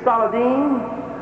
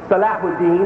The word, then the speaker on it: Salahuddin: of king richard and sardine salahuddin has correctly pronounced his name they were fighting on